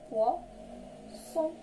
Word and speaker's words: poisson: بحال اكزومبل تاع poisson. poisson. كيف ما كتشوفوا عندنا هنا لو فويل اي وعندنا لو فويل او مي ما نطقناش ز. بوركوا اون دو اس با اون سول اس. فهاد الحاله فاش اون سول اس كنطقوه ز بحال اوازو كوم لا لتر زد. مي هنا غادي تنطق اس بواسون باسكو مالغري عندنا دو